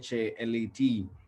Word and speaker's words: chalet: stay in a chalet now you will hear this clearly and you will know that it is cha led it will be easier